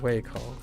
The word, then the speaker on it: 胃口: Way coal.